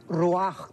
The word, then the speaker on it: ruach: la palabra espíritu es ruach que se pronuncia raj también entonces etimológicamente que